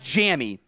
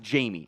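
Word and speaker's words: Jammie: overall uh Jamie Robinson I know it's spelled like jammy it's actually it is actually pronounced Jamie I like from that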